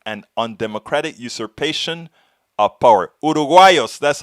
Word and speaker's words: uruguayos: Uruguayos, that's how you say it.